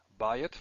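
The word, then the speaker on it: בַּיִת: Bayit, let's just look at bayit again. Oh, I should. Did I put this here? Ayin. These are all stressed in the first syllable, which is why the diphthong is there.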